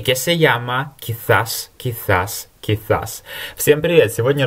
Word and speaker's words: quizás: Или же это слово произносится в Латинской Америке как quizás. А в Испании на castellano, классическом испанском, это все-таки quizás. Похоже на английское th, вот этот звук zeta, theta точнее.